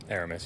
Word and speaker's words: Aramis: pronounce his name correctly can you please say the correct pronunciation of your first name Aramis you got it right everybody saying Aramis right so Aramis so now